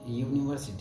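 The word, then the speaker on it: university: लेकिन इसका उच्चारण यूनिवर्सिटी होता है।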